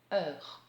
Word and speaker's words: heure: Et d'ailleurs, quand on écrit 6 heures, par exemple, on écrit le nombre 6 suivi d'un H parce que le mot heure commence par un H muet.